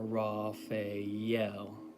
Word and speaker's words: Raphael: or evocation, I'm sorry, you will say Raphael or Raphael with the emphasis or the accent on the last syllable, the L.